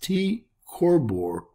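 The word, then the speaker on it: T Coronae Borealis: night sky reoccurring Nova TCB pronounced T corbor is poised on the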